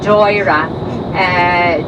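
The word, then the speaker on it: Doire: c-i-l-l meaning church and Dara or joyrah d-o-i-r-e and then when Ireland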